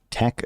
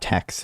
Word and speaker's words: TeX: double entry book keeping actually pronounced tech not text one of my kelk